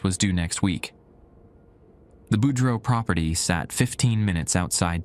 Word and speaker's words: Boudreau: "The Boudreau family needs someone reliable," she'd said, pronouncing it Boudreau, the way locals do.